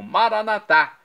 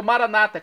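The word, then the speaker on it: Maranatha: aramaico dialeto de Jesus eu clamo maranat como dizemos nós católicos ou Maranata como dizem nossos irmãos separados os evangélicos ou protestantes não importa pronúncia o significado é o mesmo V de Senhor Jesus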